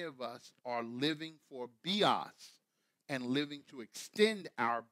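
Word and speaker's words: βίος: Bios, you would pronounce it bios, but in Greek it's bios, and it is found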